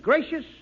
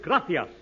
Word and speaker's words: gracias: simple Spanish phrase read it please okay muchas gracious Amigo no no no not gracious that word is gracias you see in Spanish the sea is pronounced